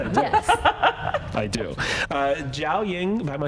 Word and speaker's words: Jiaoying: Jiaoying, am I saying your name right, by Perfect. The way? Perfect. Am I really? You pronounce my name perfectly. You say it. Jiaoying. Yeah, you did it.